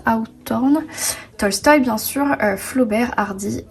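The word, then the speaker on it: Hawthorne: nathaniel je mens black mois s'appelle ça se prononce out orne tolstoï bien sûr flaubert hardy et d'accueil et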